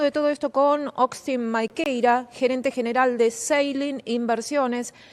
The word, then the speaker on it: Maquieyra: Vamos a estar hablando de todo esto con Austin Maikeira, gerente general de Sailing Inversiones. Muy buenos días, Austin. No sé si lo estoy pronunciando bien, si no me vas a corregir ahí tu nombre.